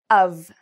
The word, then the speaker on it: of: pronounce it like this, of, which has kind of like a v sound at the end, of.